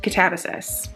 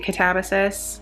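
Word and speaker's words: Katabasis: I say it Catabasis. Catabasis by R.F. Kuang. She has said it Catabasis and Catabasis. I'm pretty sure as far as like the classics go, it's supposed to be Catabasis.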